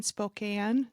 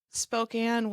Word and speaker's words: Spokane: You're all the way in Spokane. Did I say it right? You got it. Spokane, Washington.